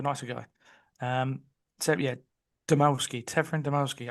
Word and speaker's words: Dymowski: Severin Dymowski. Oh, that's how you pronounce his surname, Dymowski.